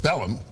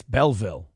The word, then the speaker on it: Belleville: you're the mayor of Bellum or excuse me a bellw what do you know oh we get the name wrong twice he said Bellum then he said Belleview and then it's Belleville I want to listen